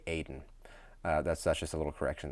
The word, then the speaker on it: Eden: I pronounced the Hebrew like Eden, and that's just wrong. It should be Aden.